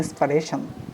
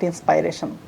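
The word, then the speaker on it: inspiration: ওকে, সো এখন থেকে আমরা বলবো কি যে উনি আমার ইন্সপারেশন, নট ইন্সপাইরেশন, ইন্সপারেশন।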